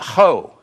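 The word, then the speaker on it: ὁ: And when you have the diacritical mark above, see, singular masculine nominative case, it's got an O with the diacritical mark. That's an H sound. Ho. That's masculine.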